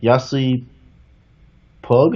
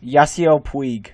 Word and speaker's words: Yasiel Puig: Yasi Pug. How do you say his last name? Yasiel Puig.